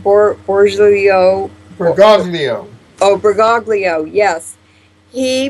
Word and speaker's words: Bergoglio: But how do you pronounce his last name? Bergoglio.